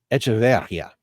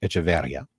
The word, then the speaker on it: Echeverria: Ron Echeverria. No, I'm sorry. That went French. Echeverria. You can find it on Echeverria. Yeah, because you have the accent over the I.